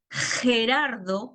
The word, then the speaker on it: Gerardo: Pero si hablamos de Gerardo, que se escribe con G, pero no se pronuncia como si fuera una G, ¿no?